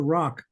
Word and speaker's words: roc: There's a reference to rock. That's spelled R-O-C, as in the mythical gigantic bird.